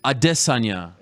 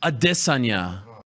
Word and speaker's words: Adesanya: the lifestyle Bender I just had this Sonia adesanya you don't know say it one more time for the people in the back adesanya yup that's his real name yes my pronunciation